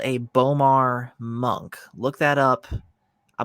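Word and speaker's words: B'omarr: correctly this is actually what is called a bomar monk look that up i believe it's spelled b apostrophe o-m-a-r-r monk and they are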